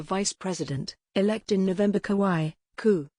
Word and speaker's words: kawaii: who became the vice president elect in november kawaii ku y e the japanese concept of cuteness